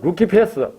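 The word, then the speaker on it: Lucifer: 즉 히브리어 사탄, 헬라어는 디아볼로스, 라틴어로는 루키페스, 영어로 번역하면서 루시퍼라고 번역이 되었던 것입니다. 자, 그런데 여기서 보면 라틴어 루키페스가 영어 스펠링으로 보면 똑같아요. L-U-C-I-F-E-R. 그걸 라틴어로 읽으면 루키페스예요. 그런데 영어로 읽으면 루시퍼가 되는 거예요.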